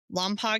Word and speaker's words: Lompoc: as Vanderberg Space Air Space Force Base near Lamp, California. Did I pronounce that one right?